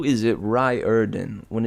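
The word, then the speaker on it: Riordan: am still on this how is it Ry ER done it looks nothing like that it is Rio erden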